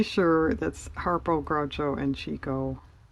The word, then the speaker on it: Chico: And it wasn't labeled, but I'm pretty sure that's Harpo, Groucho, and Chico. Or Chico, as technically it should be pronounced, but nobody does.